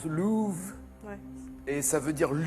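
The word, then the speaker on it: Løve: au soleil ayant d'ailleurs ça se prononce pas l'offre en louve et ça veut dire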